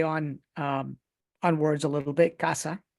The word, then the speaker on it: CAZA: Casa in Spanish. That's how it's pronounced, casa.